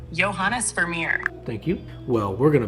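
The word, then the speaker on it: Johannes Vermeer: who painted Girl With a Pearl Earring is pronounced johanes verir johanes verir thank you well we're going to put this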